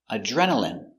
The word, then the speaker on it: adrenaline: Adrenaline. Remember, I here is pronounced in adrenaline.